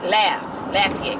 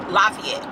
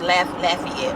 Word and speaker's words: Lafayette: to pronounce Lafayette Lafayette laugh Lafayette cuz I was calling it Lafayette lafette and my friend who's from their area she was like no it's laugh Lafayette I was like laet